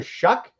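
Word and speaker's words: Shough: Tyler Shuck, that's spelled S H O U G. I don't know how you get that sound out of there.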